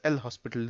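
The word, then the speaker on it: L'Hôpital: method is application of L'Hopital rule, or someone can pronounce it as L-Hospital rule.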